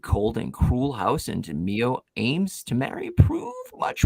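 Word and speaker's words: Miyo: Mio? He said Mio. He said it right the very last time, and I'm like, he's changing the way he's saying it. Mio He said Mano, Mayo.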